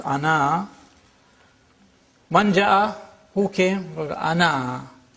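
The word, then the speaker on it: أنا: This means that the alif is not pronounced in continuous reading, but it is to be pronounced in the pausal form.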